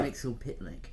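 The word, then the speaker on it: Mxyzptlk: I can never say it right, So I get Raven to say it. What is it? Mr. So- Mixel Pitlick. Mr. Mixel Pitlick.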